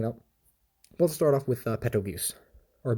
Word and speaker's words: Petelgeuse: Let's start off with Petelgeuse, or Betelgeuse. It has a P, it's like a silent P or something. I'm just going to call him Petelgeuse.